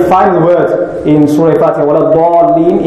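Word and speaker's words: ولا الضالين: word in Surah Fatiha, وَلَا-ضَالِّينَ, it must be pronounced with the makhraj of the dad.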